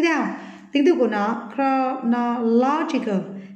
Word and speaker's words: chronological: Tiếp theo, tính từ của nó chronological thì lại trọng âm rơi vào no, còn thằng này rơi vào no nhé.